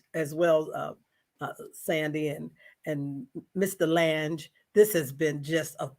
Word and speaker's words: Lange: Ted Lange, Lange. It's like phalanges.